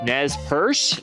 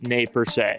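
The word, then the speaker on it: Nez Perce: it's pronounced Grant or Nez purse and it's actually pronounced nay per just be aware of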